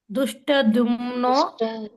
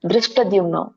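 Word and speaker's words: ಧೃಷ್ಟದ್ಯುಮ್ನೋ: ಶಿಖಂಡಿಶಿ ಶಿಖಂಡಿಚ ಮಹಾರತಹ ದುಷ್ಟದಮನೋ ದುಷ್ಟ ಅಲ್ಲ ದೃಷ್ಟದ್ಯುಮ್ನೋ ದೃಷ್ಟದ್ಯುಮ್ನೋ ವಿರಾಷ್ಟ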